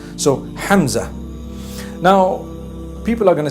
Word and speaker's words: Hamza: Talha is the proper pronunciation. Hamza is the proper pronunciation. Hamza.